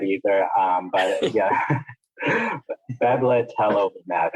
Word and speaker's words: Bebtelovimab: Bebtelovimab is how I think it is pronounced, but it is a monoclonal antibody that has emergency use authorization for COVID-19.